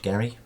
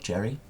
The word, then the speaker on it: Gerry: called it gerrymandering because his name was Elbridge Gerry, not Jerry, but it's pronounced today as gerrymandering, so his name technically hasn't gone down with it.